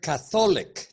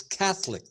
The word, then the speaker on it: Catholic: I heard Catholic. No, it's Catholic. The accent is on the first syllable.